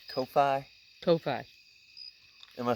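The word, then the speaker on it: Ko-fi: to say all this stuff okay so it's kofi topi am i saying it right kofi yes okay my patrons on kofi my bad i'm not trying to mispronounce this on purpose this is the first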